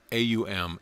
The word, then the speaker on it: AUM: basis of all sounds the first letter a is the root sound the key pronounced without touching any part of the tongue or pallet M represents the last sound in the series being produced by the closed lips and the U rolls from the very root to the